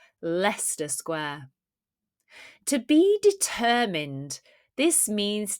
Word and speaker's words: Leicester Square: She met her friend at the tube station near, remember this one from one of our recent shorts, how it's pronounced? Leicester Square.